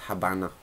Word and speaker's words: Habana: named after Habana or Havana Cuba it's not hav or Hab it's Habana so I do not say